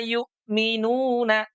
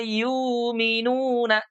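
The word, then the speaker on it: يؤمنون: Kalau dalam riwayat yang lain itu ada yang diibdal. Jadi huruf hamzahnya ini diganti dengan mad. Ada yang bacanya begini. Alladzina yuminuna. tidak yukminun tapi yukuna. Tapi ini dalam konteks riwayat yang berbeda dalam qiraah yang lain.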